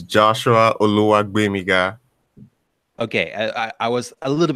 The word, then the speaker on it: Oluwagbemiga: And Josh Oluwagbemiga. Am I saying it right, man? No. Oh, my God. Please help me out. It's Josh what? Yeah, so it's Joshua Oluwagbemiga.